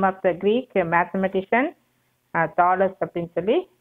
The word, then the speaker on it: Thales: இது வந்து Thales, name of the Greek mathematician, Thales அப்படின்னு சொல்லி pronounce பண்ணணும்.